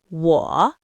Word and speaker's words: 我: 我 is a third tone. It's a dip. You start mid-range, dip down, then come back up. 我.